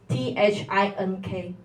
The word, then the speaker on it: think: The your h think. It's not think. Think. It's not s.